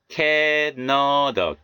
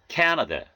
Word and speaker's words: Canada: Canada, 카나다가 아니고요. Canada, Canada. 카메라가 아니고요.